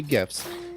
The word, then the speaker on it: GIF: for the gifts subreddit yes I say gifts deal with it um nope that's the proper way to say it yes good um was